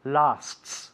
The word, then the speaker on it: lasts: Be careful with the pronunciation of lasts. Lasts. 2 S's there. It's quite tricky.